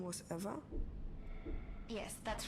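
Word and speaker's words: Ewa: to a lifeless machine besides eva is spelled e w a not e v e i thought we agreed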